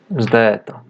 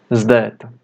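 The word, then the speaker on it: ζήτα: Tem som de um Z com um D logo em seguida. Z. Zdeta.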